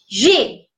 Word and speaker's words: j'ai: Whenever you are pronouncing this, it would be j'ai. Right? Whenever you are pronouncing this, it would be j'ai.